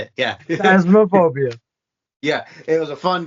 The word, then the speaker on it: Phasmophobia: Yeah, Phasmophobia.